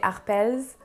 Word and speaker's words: Arpels: and not van cleef but the arpels we had some employees pronouncing the s so they would say arpels we had others not pronouncing the s so arpel if we go with the the trend in the french language i guess the s should be silent so honestly and personally